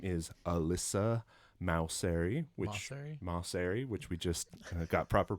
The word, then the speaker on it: Maucere: Her name is Alyssa Maucere, which we just got proper pronunciation from her.